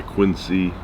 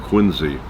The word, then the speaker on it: Quincy: way I like it now if I if I ever met him and he said that's not the way uh I pronounce my name it's it's Quincy I will call him Quincy but the way I grew up it was quiny no relation to quiny